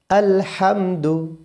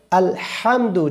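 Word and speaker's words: الحمد: আচ্ছা এরপরে আলহামদু। অনেকে বলি আলহামদু। আলহামদু বললে কিন্তু হবে না। কেন? বড় হা চেক করে বলতে হবে।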